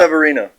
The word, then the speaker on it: Severino: Severino.